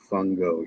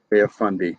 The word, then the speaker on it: Fundy: think this is the Bay of Fungo here Fundy sorry I've been pronouncing that wrong the entire time so let me get